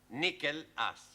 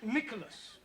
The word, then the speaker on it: Nicholas: upon a times there was a man called nickel ass it's not quite right no no once upon a time there was a woman called nickel ass it's pronounced Nicholas all right once on a times there was